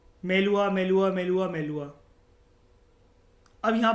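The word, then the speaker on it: मेलुहा: मेलुखा बोल रहे हो, मेलुआ बोल लो, कुछ भी बोल लो, मेलुआ वैसे राइट, मेलुआ ही होता है प्रोनाउंसिएशन।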